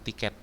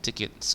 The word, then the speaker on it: tickets: Oke, contohnya we have enough tickets, membacanya bukan tiket ya, tapi tickets gitu ya. Membacanya tickets.